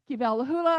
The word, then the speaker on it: Kivalahula: Kalahula, of course, there's no V in the Hawaiian language. So, it's a lot like Havi. Uh, would be spelled like